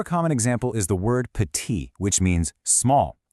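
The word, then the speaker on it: petit: A super common example is the word pati, which means small. See that T on the end? You just ignore it.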